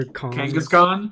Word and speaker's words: Kangaskhan: butcher the name but it's like kangaskhang or kangaskhan yeah there we go and i know yeah yeah i was like it's either that or khan right yeah kangaskhan um but i like